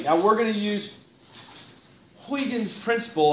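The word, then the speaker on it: Huygens: we're going to use huan's principle I think that's Christian's correct pronunciation for his name Christian hyan to understand why we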